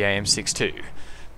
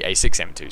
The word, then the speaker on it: A6M2: sometimes so here goes the am6 2 the a6m2 sorry I said it wrong but yeah um